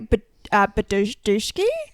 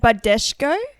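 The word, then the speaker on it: Badescu: brand, but it's the Mario Badki. Bad Bushko. Yeah, that's not right. Yeah, Mario Bad. Can I see it? Badesho. Badesho. That's it. Okay. Mario Badesho.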